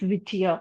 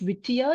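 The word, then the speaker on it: Whittier: Sorry, it's by John Green Leaf Vittier. I'm sorry if I mispronounced the name, misspelled the name earlier. So, it is by John Green Leaf Whitier.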